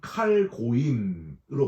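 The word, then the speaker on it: כָּל־הַגּוֹיִם: 여러분, 이 만방, 이 모든 나라라는 단어가 히브리어로는 칼고임으로 발음을 하는데 온 세상 모든 세계 민족을 다 지칭하는 그런 말입니다.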